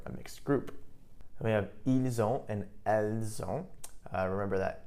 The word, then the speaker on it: ils ont: Ils ont, and notice here we have the liaison, we have a link. So we have ils ont, notice the pronunciation, the S actually does get pronounced this time.